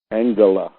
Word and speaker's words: Angela: Angela, she pronounces it.